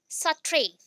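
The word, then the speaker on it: Sartre: अभी 20 में आ गए Jean Paul सट्रे। Jean Paul सट्रे, pronunciation अगर देखोगे सट्रे भी कुछ जगह पे है या फिर सटेर बोल सकते हो, सटेर बोल सकते हैं, ठीक है।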